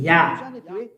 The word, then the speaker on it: Yah: His name is Yah. How to pronounce it's Yah according to the Hebrew. When you see this word, it is read Yah in Hebrew.